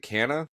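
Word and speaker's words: Canha: Is it Canna? Right? Is that how you pronounce it? Yeah.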